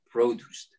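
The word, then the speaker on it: Produce'd: grower of produce greg crafter great what is produced and am i pronouncing it correctly you're pronouncing it correctly and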